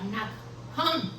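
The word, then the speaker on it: נחם: La palabra consolar que se utiliza en Isaías 62:2 es la palabra hebrea que se pronuncia nakham, que significa tener compasión, arrepentirse y consolar.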